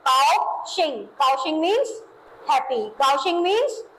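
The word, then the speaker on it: 高兴: पास काशिंग ठीक है कााउशिंग जी का साउंड है जी ए ओ क्या बन जाएगा काऊ क्या बन जाएगा काऊ एक्स आई एन जी ये सेम नेम रहेगा। इंग्लिश वाले मैनर पे हम इसको प्रोनाउंस करेंगे।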